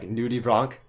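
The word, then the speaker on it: nudibranch: Steph, do you know what a nudie branch is? Or what? It could also be pronounced in other, I guess, nationalities pronounce it in different ways. So you might hear it as like nudie bronc.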